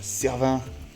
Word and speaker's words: Cervens: Ah servant. Un servin. Mais ça s'écrit pas servin. Ça s'écrit servance. Servance comme sa Paul de B.